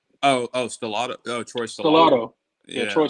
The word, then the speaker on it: Stellato: I can't pronounce his name. Stelloo. Oh, Stellato.